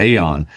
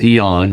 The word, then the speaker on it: Aeon: Yeah, when people look at it with that A in the front of it, we all have a tendency to go Aeon, but it's Eon. I haven't seen you in Eons.